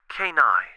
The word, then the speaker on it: Kenai: Kenai, it said. The second syllable stronger, planting a flag.